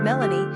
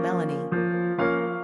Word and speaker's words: Melanie: Quick facts on Melanie. Gender, girl. Origin, American. Number of syllables, 2. Ranking popularity, 454. Pronunciation, MEHL-nee. Simple meaning, black, dark. Characteristics of Melanie.